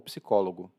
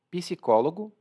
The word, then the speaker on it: psicólogo: Aqui na pronúncia, você vai perceber, eu faço um P muito suave. Psicólogo, psicóloga. Mas tem quem pronuncie psicólogo ou psicóloga. As duas pronúncias estão corretas, tudo bem? Então, psicólogo ou psicóloga, psicólogo, psicóloga. Mas o P tem que estar lá. Bom, o narrador então diz